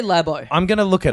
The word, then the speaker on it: Labo: It means like labo, like how they'd say lab in America.